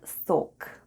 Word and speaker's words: сок: Let's have a look at the spelling of the word сок. The first sound is S, then goes O, and then we have K at the end. And altogether it's сок, сок, which is Russian for juice.